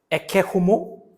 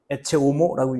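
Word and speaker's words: Ecce Homo: 보라라 책이 있어요 원 원제는 에케호모 이렇게 읽거나 에체 오모라고 읽는 요건데 요게 이제이 사람을 보라라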